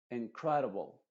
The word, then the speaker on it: incredible: Incredible. Incredible. Flexible. Flexible. Flexible. O sea, estas vocales se pronuncian de forma muy rápida, que son las vocales schwa.